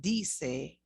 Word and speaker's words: dice: You would say dice. And that is what I'm saying. Javier dice. Javier dice.